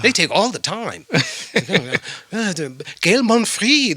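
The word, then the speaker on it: Gaël Monfils: Gail Monfrey. They say the S is silent.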